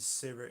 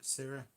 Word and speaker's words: Syrah: It's a Syrah in South America. Syria? No, Syrah. Yeah, Shiraz in Europe, Syrah in South America. Yeah, one of my favourite Syrahs is a Chilean.